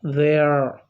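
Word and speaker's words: they're: The next one, they are in contracted form pronounced as they, not they. It should be they. A. They. No, there. There. So they are is pronounced as there. So air diphthong sound comes here. So they are becomes there.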